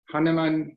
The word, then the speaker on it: Hahnemann: Steinberg received his DDS degree from Northwestern University School of Dentistry and later earned an MD degree from Hahnemann University. Is that correct, the pronunciation?